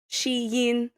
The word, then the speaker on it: Shein: Well, so first of all, the way that you pronounce Shien properly in Chinese is shein.